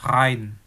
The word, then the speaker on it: Rhein: EI itu kita baca kayak I ya. Contohnya kata Rhein. Nah, Rhein itu adalah nama sungai di Jerman.